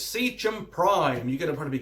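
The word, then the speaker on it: Seachem: So it's Secum Prime. You're going to probably be cursing me out how I pronounce Secum, because I think a lot of people pronounce it Secum.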